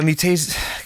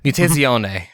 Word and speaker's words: Mutazione: So I checked out Mutation. God, I can never say the name correctly. I got yelled at twice during the event for this. Mutazione, I believe, is the pronunciation.